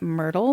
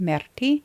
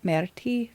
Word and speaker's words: Myrtille: I've been calling it Myrtle because to me that's how it's spelled, but it is French for blueberry and I believe that it's pronounced Myrtille.